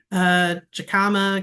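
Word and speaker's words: jicama: Jacama, California cousins pronounce it as an H.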